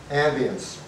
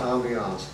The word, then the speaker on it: ambience: Ambience. Not ambiance, ambience.